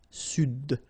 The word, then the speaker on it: Sud: Here you should pronounce the D. Sud. Sud, okay?